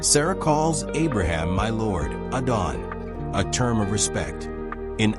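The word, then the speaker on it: אדון: Text Strong's Hebrew number 111 Adon transliteration Adon pronunciation adon meaning lord master sovereign ruler.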